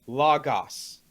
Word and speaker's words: logos: You have to have, it's logos.